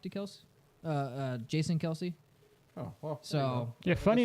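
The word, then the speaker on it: Kelce: to go talk to Kels uh uh Jason Kelsey oh well so yeah funny enough you know the the way they actually pronounce her last name is Kels that was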